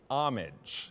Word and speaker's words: homage: Uh, the one that got past us, that imitation is an homage with that silent H at the start there.